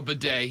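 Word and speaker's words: bidet: bu is that how you say it a bedet yes yes Lonzo yes Lonzo Jr it's a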